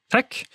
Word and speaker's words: TeX: by usage not fiat tech is usually pronounced tech making lottech and latex the logical choices but language is not always logical so lay text is also possible you cannot separate the